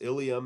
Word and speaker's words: ilium: Ilium and ileum, they both sound exactly the same.